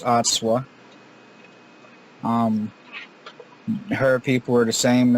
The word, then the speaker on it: Atswa: Her name is spelled Atswa, and it's pronounced Atswa.